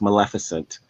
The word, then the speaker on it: Maleficent: how you pronounce it that's how you correctly pronounce it it's maleficent um i know this because i love this